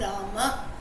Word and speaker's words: Rama: But then the right way, if you ask someone the right spelling, it is going to be Rama only, Rama, Rama. That is the right way of saying.